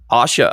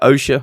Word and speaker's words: OSHA: a product you know asha osha whichever way you like to pronounce it and all of the